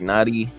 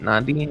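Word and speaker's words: Nnadi: blake bell defensive tackle derek knotty is how you say it not nadine or ignati um quarterback chad henny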